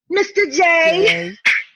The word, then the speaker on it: Mr. J: You have to say it like Harley Quinn. Mr. J.